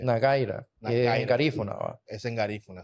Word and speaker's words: Nagueira: ti nira o sea lo podemos pronunciar tal como se escribe es solamente que se se se lee nagira pero es nagira se pronuncia nagira en garífuna es en